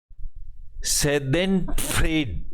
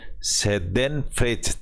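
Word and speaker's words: Schadenfreude: इसका अपोजिट में एक जर्मन भाषा का शब्द है सेदेनफ्रेड। SCH को CH को चे भी बोला जाता है और सेदेनफ्रेज सेदेन फ्रेच, CH साइलेंट हो गया इसमें, एक ऐसा शब्द है।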